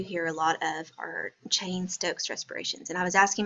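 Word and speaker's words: Cheyne-Stokes: Oh you mean the Cheyenne Stokes I'm shying but anyway it's chain Stokes they just didn't know how to say it but it's the same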